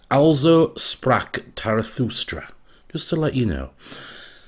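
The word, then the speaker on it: Also sprach Zarathustra: this music and it apparently the title is pronounced alzo sprock tarathustra just to let you know lots of requests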